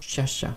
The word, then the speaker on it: Sciascia: Avec l'œuvre maintenant dont je souhaitais parler, c'est Le jour de la chouette de Leonardo Sciascia. C'est assez difficile, ça s'écrit S-C-I-A.